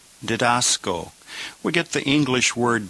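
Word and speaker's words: διδάσκω: So 23 the noun is pronounced dedascalos. Dascalos. And number 24 the verb is dedasco. Dasco.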